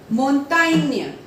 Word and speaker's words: montagne: If G and E will come together, the sounding will be Inya. For example, montagne, montagne, Espagne, Espagne, gagne, gagne.